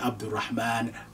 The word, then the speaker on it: Abdul Rahman: they feel comfortable with but culturally speaking it should be pronounced together Abdul Rahman Abdul Wahhab Abdullah and so on